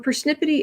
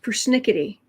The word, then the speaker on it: persnickety: card for later taxiway persnippity is a mispronunciation trump used persnickety oh boy persnip but